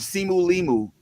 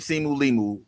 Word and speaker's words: Simu Liu: Okay, it's not Liu. I love you. You say that man's name wrong one more time. Trouble. It's more than a thousand% not Liu. It's L I Su Liu. Simu Liu.